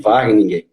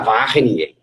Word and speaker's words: Wageningen: E aí fui falando, aí eu mostrei para ele o escrito, ele, Wageningen, né? Que eles têm ele tem uma pronúncia forte no R, né? Wageningen, E aí eu falei, isso mesmo.